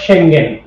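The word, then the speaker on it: Schengen: আমি বলেছি যে এটাকে আমরা বলবো সেঙ্গেন, কারণ এটার উচ্চারণ সেঙ্গেনই।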